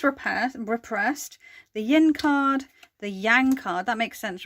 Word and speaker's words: yang: Do you know how I used to remember what yin and yang were? It's so fucking... yang rhymes with wang, so it's the male aspect.